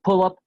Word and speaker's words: pull-up: Voy a siempre utilizar o enfatizar la sílaba tónica en la primera partícula, en este caso pull-up y spot-up, ¿sí?